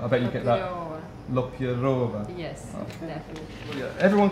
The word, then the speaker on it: Lopyreva: Lopyreva.